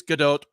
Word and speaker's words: Gadot: like she's is really she's not French it's Godot like Bruce 80 of